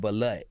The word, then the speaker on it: balut: It's definitely not called butt. What's it called? It's called balut.